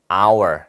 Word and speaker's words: hour: 발음을 해보면은 H는 사라지게 되고 모음으로 시작하게 됩니다. hour. 그렇죠? 모음으로 시작하잖아요. 그래서 철자는 자음으로 시작하지만 소리는 모음으로 시작하기 때문에 얘도 on을 갖다 붙이게 되죠.